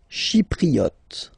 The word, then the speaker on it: Chypriote: Chypriote. She, remember this Y is pronounced like I.